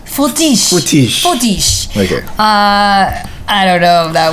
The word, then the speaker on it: Fortiche: Okay, but before I get into so the artwork, it was it's a studio from Paris called Fortiche. Yeah, you gotta say it more Frenchly. Fortiche.